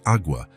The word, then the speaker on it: agua: "It's pronounced agua, with a very soft G-E.